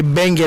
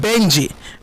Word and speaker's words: Benji: So if it's not DJ Benge, that means it's DJ Benji. Big up yourself, DJ Benji, Mix Master. It's not Bingy, because Bingy is not with us anymore.